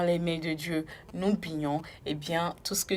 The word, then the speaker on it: Bignon: Aujourd'hui, nous allons nous intéresser à un prénom Bignon. Bignon qui s'écrit B-I-G-N-O-N.